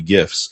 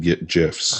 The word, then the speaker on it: GIF: I don't know why I would have said GIFs. Well, regardless, the White House has declared GIFs will be pronounced with a hard G.